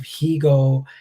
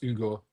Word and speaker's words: Hugo: It's French as well, so it's probably pronounced Hugo or something like that, with a H being silent.